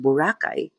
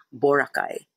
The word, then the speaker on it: Boracay: That's why it's pronounced Burakay.